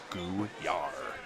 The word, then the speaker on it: Gouillart: Gouillart. Well, the emphasis on the second syllable.